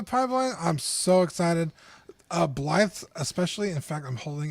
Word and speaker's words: Blythe: me please Blythe because it looks like blade but it's pronounced Blythe okay well I'm glad